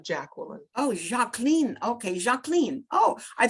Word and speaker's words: Jacqueline: It's Jacqueline. Jacqueline? Yeah, it's just the French pronunciation of Jacqueline.